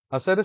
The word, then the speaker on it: hacer: Hacer se pronuncia con una fuerza de pronunciación en la primera sílaba, o sea, hacer, y la R es suave, no es una R, sino una R.